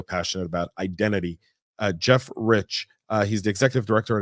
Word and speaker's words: Reich: correct yes you did the E is silent it's the only part